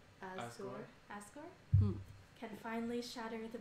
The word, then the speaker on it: Asgore: Okay, how do you pronounce that name? Asgore.